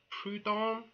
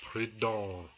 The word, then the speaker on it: Proudhon: Am I pronouncing that right? Proudhon? No, you're not. It's Proudhon.